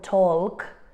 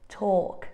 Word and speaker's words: talk: got a silent l very often we have a silent L when it appears after a long vowel sound okay for example we won't say calm or talk we would say calm talk like the long sound kind of absorbs the L let's